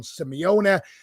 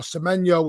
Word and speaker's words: Semenyo: City's immediate priorities start to be the wide areas, and Bournemouth's Antoine Semenyo, or Semenyo, whichever way you want to pronounce it, is being considered.